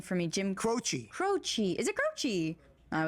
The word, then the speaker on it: Croce: This is, you say his name for me, Jim Croce.